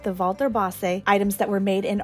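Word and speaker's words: Walter Bosse: it is pronounced vas with almost a v sound at the beginning of Walter and I am so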